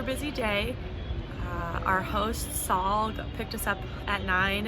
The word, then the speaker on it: Sahl: for our our guide saul and that's spelled s-a-h-l not s-a-u-l like saul like paul um i hired